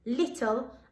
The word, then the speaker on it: little: don't pronounce like that the word is little and the e is silent fantastic so let's see